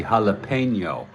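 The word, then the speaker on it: jalapeño: Jalapeno Ranch, and I see you added the tilde there. It should be jalapeno.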